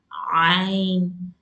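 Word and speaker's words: عين: Place your four fingers on that and try to press a little and pronounce Ain. Ain. It's the makhraj of Ain from that part of your throat.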